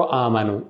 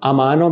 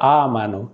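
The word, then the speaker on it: amano: लोरो आ मानो, अमानो भी कई लोग कह देते हैं, अमानो गलत है, आ मानो, ठीक है।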